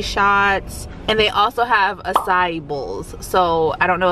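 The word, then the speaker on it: açaí: called it spelled like a kai and i've heard people say akai but i know that's not the right way i know it was like acai or a sai bowl so we're just gonna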